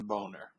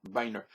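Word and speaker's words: Boehner: got why in the look how that man's name is spelled b o e h n e r how in the world did they get an A sound out of that name I'm sorry the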